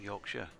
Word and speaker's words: Yorkshire: friends recently have been calling him Yorkshire Yorkshire against whoever Essex Yorkshire against Hampshire right um not Yorkshire okay all right they've almost added an extra syllable then haven't they really